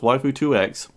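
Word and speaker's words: waifu2x: commenter on my last video who corrected my pronunciation so it's waifu 2X if you scroll down here uh they you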